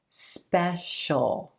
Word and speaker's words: special: When the sound right before the suffix is the sh, sh sound, then you're going to pronounce the suffix as just the dark L, as just a single syllable. Ol, shul, shul, official, substantial, special.